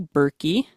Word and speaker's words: Berkey: co-advisors today first we have the lovely Rachel bery that's how you pronounce it hopefully yes that is correct I